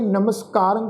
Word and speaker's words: नमस्कारं: रारे उत्ते टिप्पी की मात्रा नास की उच्चारण करांगे नमस्कारं। कक्के नू कन्ना, रारे उत्ते